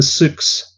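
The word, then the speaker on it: Sioux: Isn't it the Souks? The Souks? Souks. I don't know. No, yeah. I think it's actually just pronounced Sue, even though it's spelled weird.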